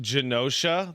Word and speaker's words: Genosha: It's pronounced Genosha. The G isn't silent.